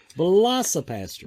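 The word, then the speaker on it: Velocipastor: Velocipaster.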